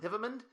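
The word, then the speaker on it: Hivemind: Hivemund. It's pronounced Hivemund, but it's spelled Hive Mind.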